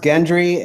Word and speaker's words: Gendry: my $250,000 in Bitcoin please thank you it's pronounced Gendry and Arya so you got both the names